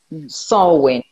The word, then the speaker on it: Samhain: parce que c'est vrai que je dis sa main moi à chaque fois.